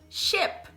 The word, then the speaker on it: ship: E a segunda palavra, representada com o I, então vai ser o E, né? Então, a palavra navio se fala ship. Ship. Ship. Ship, tá? Ship. Ship. Ship. Vocês estão vendo que ele é um som mais curto, né?